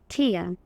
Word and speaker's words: tear: তাহলে প্রথম যখন আমরা ভার্ব হিসেবে দেখলাম উচ্চারণটা হয়েছে ঠেয়া, আর যখন নাউন হিসেবে দেখছি ঠিয়া।